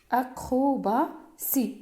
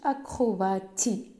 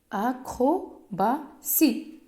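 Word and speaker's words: acrobatie: بحال اكروبا سي ما كنقولوش اكروباتي كنقولوا كاينه اي كاينه تي تبعها اي كتقرا سي. اكروبا سي.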